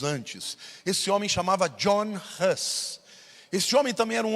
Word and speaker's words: Hus: O nome dele era John Huss, e no inglês, Gus é ganso. Então, na pronúncia deles, era muito parecido o sobrenome dele com o ganso.